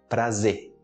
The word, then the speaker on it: prazer: meu prazer é meu Entendeu prazer é meu prazer prazer prazer tão preferência para trazer Lembrando que